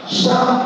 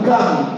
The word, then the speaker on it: Cham: Le premier s'appelait Sem, le deuxième Japhet, le troisième Cham ou Cam, ça dépendra des prononciations.